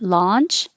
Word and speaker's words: launch: But launch is ah, and your jaw has to be much more open and your tongue can be more flat, la. As your jaw opens, so does your tongue stay flat, la.